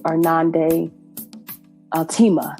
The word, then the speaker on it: Irnande Altema: So I am incredibly honored to be here with the Irnande Altema.